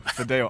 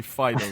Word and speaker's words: Fideo: Because you play, I always pronounce his name wrong, and Pathios kicks off at me. Fideo. I always say Fido for some reason.